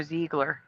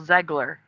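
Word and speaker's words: Zegler: I think they're all fans of Rachel Zgler. And also I'm hearing a lot of people calling her Ziegler, but it was Rachel Zgler.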